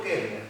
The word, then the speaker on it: Koestler: Sí, Arthur Koestler, 2 libros. Los Sonámbulos, Kepler, sí, ¿cómo se escribe con K? sí, con K. Koestler, así como suena.